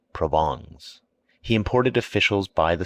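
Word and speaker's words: Provence: and his wife's relatives from provance pronounced provon he imported officials by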